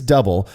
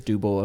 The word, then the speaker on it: Dubbel: it's still wrong but I have adopted double because I do believe that that is the regionally accurate way of pronouncing this delicious Style man I I uh